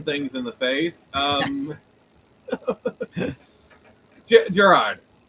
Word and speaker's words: Gerard: Just like Jared. I used to say like the Subway guy, but let's go with the jewelry store now.